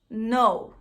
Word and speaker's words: know: Então, K antes de N, você esquece o K. Finge que ele nem tá ali. Então, nessa palavrinha fica know.